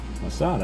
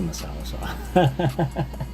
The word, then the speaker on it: masala: Masada is a mispronunciation of Tikka Masala.